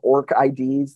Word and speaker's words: ORCID: I sometimes call them orc IDs like Tolkien asks like orc um and sometimes I try to think of it like the flower I think the proper